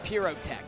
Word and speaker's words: Pyrotech: And forgive me, I constantly mispronounce it because I'm used to K-Kun saying Pyrotech, you know, so Pyrotech. Right. And he confirmed himself that's what it is.